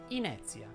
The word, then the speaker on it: inezia: chiusa quindi inizia oppure inezia ora in questa parola inizia la e tonica e seguita da una consonante ze da due vocali via e quindi deve essere pronunciata aperta inezia altri esempi sono facezia